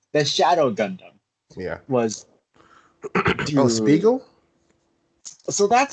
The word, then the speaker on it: Spiegel: the english name the shadow gundam yeah was spiegel so that's how you pronounce it yeah okay it's spelled almost exactly